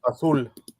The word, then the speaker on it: azul: How do you pronounce it in Spanish? Azul.